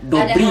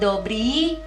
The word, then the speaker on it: Dobri: Dia ada, itu cara bacanya Dobri gitu. Itu udah di Indonesia kan sebenarnya. Dobri, i-nya i panjang, narod kayak gitu.